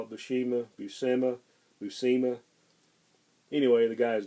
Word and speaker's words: Buscema: Or somebody might correct me on the pronunciation of that. I've heard a lot of people call it Buscema, Buscema.